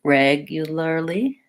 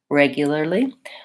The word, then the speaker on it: regularly: it up regularly regularly or if that's challenging for you can also build from the back start with lee or even early early early you'll early regularly finding out which of these syllables is challenging for you practicing them separately and then slowly pulling them together is going to be a great way to get that word once I can say